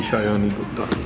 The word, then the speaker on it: Sayani Gupta: आज मेरे साथ मौजूद हम सबकी चाहिए थी शायानी गुप्ता. Thank you for spelling my name correct. I mean pronouncing my name correct.